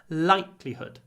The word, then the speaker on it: likelihood: the likelihood of success be careful with your hood at the end it's not Hood it's hood hood it's the put sound like good likelihood likelihood be realistic about